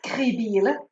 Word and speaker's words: Krebiehl: Now let us know how you pronounce your last name. It's Krebiehl. Krebiehl.